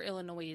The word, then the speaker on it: Illinois: Is it Illinois or Illinois? It's Illinois. The S is silent.